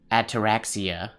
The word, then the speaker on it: ataraxia: This wasn't the ataraxia. Ataraxia? How do you pronounce that one? You pronounce that one like this. Ataraxia, ataraxia, ataraxia, ataraxia.